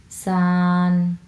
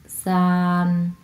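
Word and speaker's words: 三: তারপরে 3 আমরা যেভাবে পড়ব সান, সান, সান, কারণ এটা হচ্ছে প্রথম টোন, ফ্ল্যাটভাবে উচ্চারণ করতে হবে সান, সান।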